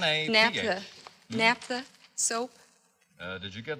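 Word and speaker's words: naphtha: or spot REM Professor Noor says the correct pronunciation for n a p h t h is Napa and it is a cleaning fluid a solvent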